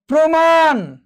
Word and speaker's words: প্রমাণ: দেখো প্রমাণ, কি হয়েছে? ওকারান্ত হয়েছে, অর্থাৎ উচ্চারণটি ওকারান্ত হবে।